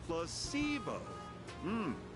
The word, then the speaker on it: placebo: to our vocabulary today repeat after me placeo the stress is on the middle C very good you're feigning